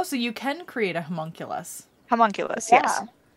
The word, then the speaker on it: homunculus: it's not what it is but i can't pronounce it because i see it in my inventory okay the homonculus servant or whatever oculus oh so you can create a homunculus homunculus yeah homunculus and that makes me want to say huncles